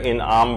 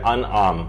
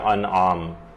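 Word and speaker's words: أنعام: وہ یہ ہے کہ لوگ اسے سورہ انعام پڑھتے ہیں، جبکہ یہ ہے سورہ انعام، یہ زیر کے ساتھ نہیں ہے بلکہ یہ زبر کے ساتھ ہے، تو اس کا صحیح تلفظ ہوگا سورہ انعام۔ اس کی جو کل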